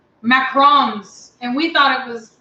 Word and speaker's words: macaron: he keeps me young so it's actually pronounce macaron Oh macaron okay because we always said macaroons that's what we thought